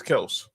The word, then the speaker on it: Kelce: Like how everyone kept saying people still say Travis Kelce, but he says it's Kelse. Him and Jason Kelsey say it's Kelse.